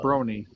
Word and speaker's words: Brony: or broky no BR broky not BR Brony pronounce it Brony half bro and half pony you immediately attack this